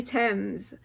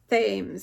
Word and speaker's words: Thames: I say Thames. It's supposed to be pronounced Thames.